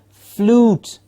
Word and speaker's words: flute: we have FL ute flute flute okay there is no you sound in it real it's not a flute it's a flute and the number TW